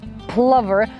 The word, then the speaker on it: plover: to pronounce the word Plover there's been a lot of discussion whether it's a plover as in a lover or a plover as in Rover the general consensus is Plover now the top five